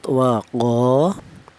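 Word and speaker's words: وقالوا: Di sini ada lafaz waqo, yaitu ada huruf qof yang berharakat fathah. Kemudian ada alifnya ini atau di balik ada alif ini di mana alif ini didahului huruf yang berharakat fathah ini dibaca mad thobi'i. Qo dibaca mad thobi'i. Alasannya ada alif yang didahului huruf yang berharakat fathah. Adapun panjangnya madobi ini yaitu satu alif atau dua harakat atau dua ketukan.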